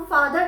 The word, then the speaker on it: father: FATHER, फादर। हम फादर नहीं बोलते हैं, र नहीं लगाते हैं एंड में, हम बोलते हैं फादर, फादर।